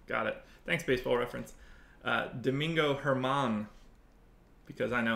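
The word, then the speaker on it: Domingo Germán: the Yankees Domingos your mom going for a German your main German why did I say it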